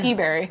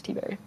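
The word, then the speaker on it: Tiberi: it's T-Berry. Okay. I know because Henry Gomez pronounces these names for me on the phone sometimes, and I'm reasonably informed that this man's name is T-Berry.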